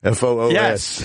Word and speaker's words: Foos: His name is Gerald Foos. F-O-O-S. Yes. Foos. Foos Fighters.